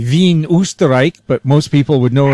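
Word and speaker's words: Wien: to us from I would like to say V but most people would know it as Vienna Austria did I pronounce it right me is correct yes okay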